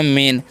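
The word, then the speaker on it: main: और ए आई का क्या करना है ए उच्चारण कर देंगे एन से ना हो तो हो गया मेन और मेन का मतलब क्या होता है जी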